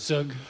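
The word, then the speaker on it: zhoug: How do you pronounce that? Sug.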